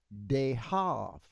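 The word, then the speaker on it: דהב: So it's dehav dehav. And so we have it here. Dehav. See they did a b instead of a v.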